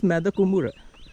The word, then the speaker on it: Madakumbura: Similarly, Madakumbura is spelled as Madde Kombra, but pronounced as Madakumbura.